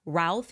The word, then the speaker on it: Routh: I think yesterday I was calling him Ruth. It looks like the correct pronunciation is Routh.